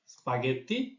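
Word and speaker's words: spaghetti: থাকবে যখন জি আকা থাকবে অর্থাৎ সবসময় গ স্পাগেটি গিয়া আচ্চ ফঙ্গি একটি বিশেষ সংযুক্ত বর্ণ হচ্ছে জিন যার উচ্চারণ হচ্ছে ন যেমন সিনিয়রের বানীয় আরেক তারপর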